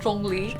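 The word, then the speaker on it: Zhongli: first character right so starting with the zh sound it's kind of like a hard ch sound if you actually really sound like a z oh so if you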